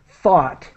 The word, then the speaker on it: thought: Let me help you with thought. Thought? Fuck. Yeah, I hope that people see that I'm trying to, the pronunciation is like the word hot, but Oh, with TH, thought, thought.